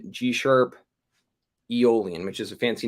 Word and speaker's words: Aeolian: Uh a lot of people say Aeolian. I used to say Aeolian for the longest time until I found out that it's really technically pronounced Aeolian.